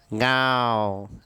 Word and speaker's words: गांव: और अच्छे से बोलो, गांव। नाक से बोलो, नाक से, मुंह से नहीं बोलना है। अनुनासिक है, नाक का उच्चारण करके बोलो। ये आपका वर्ण नाक से निकल कर आना चाहिए।